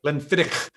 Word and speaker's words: Glenfiddich: Glenfiddich. Thank you for the correct pronunciation.